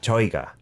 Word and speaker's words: 저희가: But we just basically say it like he, 저희가. 저희가. Like, say it quickly. Get it out of the way.